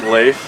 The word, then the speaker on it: Leif: every substitute teacher ever my name is not leaf it's lathe get a ride people man dr.